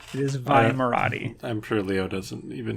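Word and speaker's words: Vi Moradi: Is it pronounced V Marathi or Vi Marathi? I believe it's officially pronounced Vi. Last time I checked. Okay, so I am wrong then. So it is Vi Marathi.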